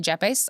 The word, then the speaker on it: Yepes: but it's pronounced like a J because I married a Colombian and that's that's what they do.